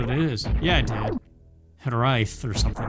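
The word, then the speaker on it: hiraeth: It's like here I th. But you have to roll the R. But then other pronunciations don't say the H, they say hirai. But I think you do say the TH.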